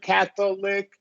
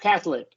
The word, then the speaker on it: Catholic: So like it's two, instead of a 3-syllable word, right? Catholic, it's just 2 syllables. Catholic. Catholic.